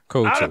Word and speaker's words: Cocteau: And it's called Cocteau. Like that's the pronunciation. I think the computer's pronunciation is better. Cocteau.